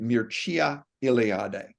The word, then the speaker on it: Mircea Eliade: So here's he and I was taught to pronounce it Mircea Eliade. He will pronounce it a little differently.